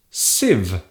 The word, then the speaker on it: sieve: It has a very strange spelling and it is pronounced sieve. Sieve.